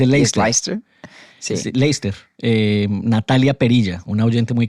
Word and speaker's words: Leicester: el dato inútil pero divertido del episodio pasado, pronunciamos un nombre de una ciudad incorrectamente ambos. Yo dije Sí, Leicester que se y han usted dijo burlado de Leicester. nosotros. Se dice ¿Es Leicester. Leicester? Sí. Sí, Leicester.